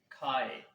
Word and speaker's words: 开: friends, today's word is khai. Khai, khai. Its pronunciations or opinions are written as khai.